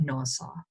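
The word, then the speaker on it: NAWSA: american women's suffrage association people don't usually say this big mouthful they'll just pronounce this acronym and they'll call it nassau uh susan b anthony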